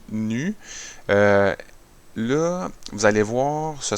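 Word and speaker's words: ν: On lit, ça s'écrit comme un V, mais ça se lit nu.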